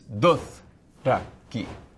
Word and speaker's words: Dothraki: And so when you talk about like the word Dothraki, it's Dothraki, separate syllables.